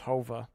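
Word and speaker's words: Whova: So, but the app on Wova, it's pronounced Hova. You'll always hear me say Wova.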